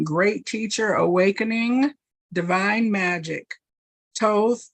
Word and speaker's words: Thoth: Thoth, pronounced Thoth, also known as Tahuti, is the ancient Egyptian ibis-headed god of writing, divine magic, and the moon.